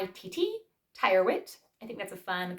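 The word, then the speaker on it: Charles Tyrwhitt: good next we have Charles Tire wit Charles is spelled c h a r l s space t yr w h TT Tire wit I think that's a fun kind of last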